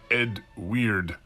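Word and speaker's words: Eadweard: My name is Edward Muybridge. That is pronounced Ed Weird.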